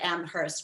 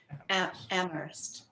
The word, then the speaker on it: Amherst: It's so funny because I just said Amherst, but you're not supposed to say. You're supposed to say Amherst. Oh. The H is apparently silent for people who know.